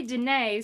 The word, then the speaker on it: Dene: So they live over there, and when I say Dene, so Navajo is a name that other people gave the Dene people.